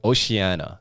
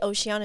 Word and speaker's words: Oceana: But so like but in English I guess you pronounce the C, so it's like ocean with an A at the end, and she just really